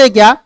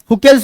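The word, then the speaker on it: Hückel: ना यह दिक्कत इसमें इसको बोलते हैं क्या हु केल्स रोल यहां पर सी साइलेंट होता है या सिंपल हुके बोलो कोई फर्क नहीं पड़ता ये इट इज ओनली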